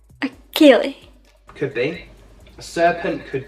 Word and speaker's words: Ceilidh: A Kaylee. Even I can struggle to say it sometimes, but it's called a Kaylee. A Kaylee.